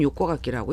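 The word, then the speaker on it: 横書き: 똑같이 읽는 것은 요코가키라고 읽습니다.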